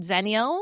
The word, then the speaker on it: Xennial: You could use the word zenial spelled with an X.